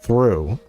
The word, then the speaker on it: through: figuring itself out, and where it's spelled like through, it's like, why is there a GH? Oh, it was originally pronounced throch. Throch. But people don't want to say throch, so they just said through.